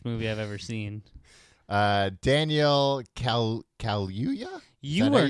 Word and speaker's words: Kaluuya: Daniel Kaluuya? Is that how you say his name? It's not Kaluuya. Kaluuya.